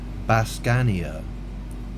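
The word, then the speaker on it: baskania: And it's pronounced Bascania.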